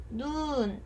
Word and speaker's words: 눈: 이 밖에서 펑펑 내리는 하얀 눈을 얘기할 때는 눈 이렇게 길게 발음을 합니다. 그런데 눈이 아파, 텔레비전을 많이 봐서 나 눈이 아파 했을 때는 안구할 때 그 눈은 짧게 발음을 합니다.